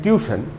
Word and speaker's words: tuition: हम लोग इसको अक्सर बोलते हैं ट्यूशन, लेकिन चूंकि आप देख ही रहे कि यहाँ पर एक आई भी है, इसीलिए इसको पढ़ना चाहिए ट्यूशन।